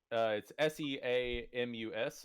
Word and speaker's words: Seamus: It's it's SEAMUS if I'm not wrong. Seamus. I know. It looks like it spells Seamus, but It's spelled like Sean.